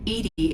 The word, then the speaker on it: EDI: is a jar why are you named Edie Edie is the phonetic pronunciation of e di that is an acronym